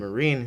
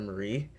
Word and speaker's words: Marine: then after Blaze and Marine introduced themselves, he uh Shadow mispronounces Marine's name by calling her Marie.